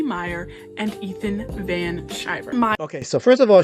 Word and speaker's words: Ethan Van Sciver: Meyer and Ethan Van Sciver. Okay, so first of all, she mispronounces Ethan's name. She calls him Ethan Van Sciver. That's wrong. It's Ethan Van Sciver, number one.